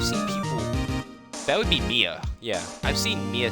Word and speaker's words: Mia: cause a death loss of blood due to blunt force trauma profiles M Maya is that how would you pronounce that I've seen I've seen people that would be Mia yeah I've seen Mia spell differently I've seen